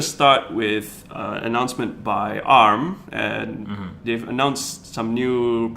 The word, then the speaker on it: ARM: It's pronounced ARM. In It's my an head, acronym. I've been calling it ARM in my head all this while. No, it's ARM because it's an acronym.